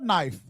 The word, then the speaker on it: knife: He said, that is cut knife. Cut knife. She said, well, the K is silent.